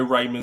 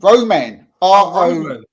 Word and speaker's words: Romain: Google don't even know Raymond is. Who's Raymond? Roman.